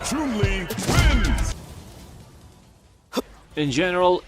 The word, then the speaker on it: Chun-Li: Finally, her name in English is pronounced as in Chinese. Chun-Li wins!